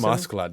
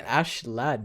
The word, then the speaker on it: Askeladd: I call him Askeladd. That's cool, man. I like that. All right. Yeah. Screw the haters. Askeladd. You don't want to say it like an American. Yeah, but he's an Ash lad, You gotta...